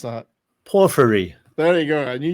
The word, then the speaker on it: Porphyry: I can never pronounce that. Porphyry.